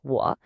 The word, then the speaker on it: 我: That's 我, pronounce 我. This is the pronoun for I or me. And would you look at that, it's a third tone again, 我.